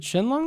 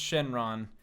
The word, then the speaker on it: Shenron: it's pronounced really but they're both pronounced Shenron but like with the Japanese pronunciation mmm yeah it sounds